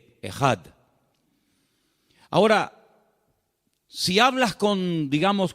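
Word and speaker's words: אחד: Y esa palabra, el Señor nuestro Dios es uno, es una palabra que se pronuncia e J. Ejad.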